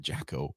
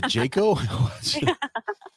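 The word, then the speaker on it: Jaco: does so I would like how do you pronounce it I call it Jacko is it not is it yako it's a Jayco Jayco okay I'll remember that all right thank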